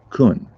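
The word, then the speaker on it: Caen: a city in france spelled c-a-e-n which is pronounced kun i went in the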